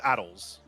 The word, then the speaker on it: ATLS: The way that it's spelled, which is Addles. Okay. There is no second A in that vehicle. If you read it, it is ATLS, which is clearly pronounced Addles.